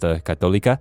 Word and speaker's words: católica: So I grew up with a lot of people who spoke Spanish, and in Spanish it's pronounced católica.